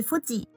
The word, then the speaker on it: 富士: 富士山的日文发音是 Fuji，在日文中与不死同